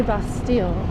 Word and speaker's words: Bastille: where it comes from you don't pronounce those two L's it's like a y That's d you could say Bastille people will know what